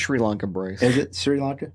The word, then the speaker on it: Sri Lanka: going hunting and um it's pronounced Sri Lanka Bryce is it Sri